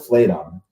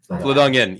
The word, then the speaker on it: Fladungen: We all pronounce it Fladung, but we know the town's called Fladung, right? Fladungen, en at the end of it.